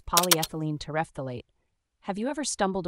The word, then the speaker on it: polyethylene: part it's pronounced as polyethylene think of it like saying poly as in many ethyl like the start of ethanol and in like the